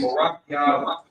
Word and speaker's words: Barakia: But we do got a brother in school named Barakia the Q. So in his name, the Ba is pronounced by itself, but the Ra and Qua are pronounced together.